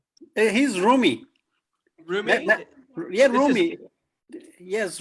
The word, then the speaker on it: Rumi: Rumi.